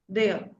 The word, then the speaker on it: der: This is pronounced as there. R is r has a sound of a here. Okay. If r comes at the end then it is pronounced as a. If it comes in the middle then it is r.